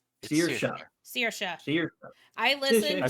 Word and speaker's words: Saoirse: Seer, There's seer like a seer, like person seer, then sha. Searsha.